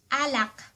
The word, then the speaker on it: alak: Alak.